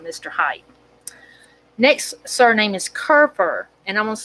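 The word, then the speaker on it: Kuefer: height next surname is kurfur and i'm going to spell it and it could be kuper that's the way they may have pronounced it then but it's k-u-e-f-e-r first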